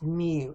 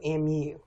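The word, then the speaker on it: μ: which is a Greek lowercase M and it's pronounced mu mu and it denotes the mean of all the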